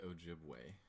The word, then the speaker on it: Ojibwe: That said, according to, how do you pronounce it? I would say Ojibwe.